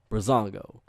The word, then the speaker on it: Breezango: Yeah, American Alpha versus Breezango.